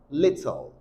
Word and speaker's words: little: number one number one is pronounced as little I'll take that again little not little no but your tongue is going to be touching your alveolar rage your alveolar Ridge is back of your upper in sizes so your